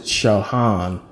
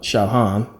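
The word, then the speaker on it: Sahagún: by Bernardo D San they uh pronounce it shaan you know kind of like lasagna you got that g that makes a different sound but shaan a uh Franciscan monk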